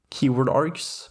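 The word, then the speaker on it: kwargs: keyword args and that's how it's pronounced by the way. The kw stands for keyword works very similarly to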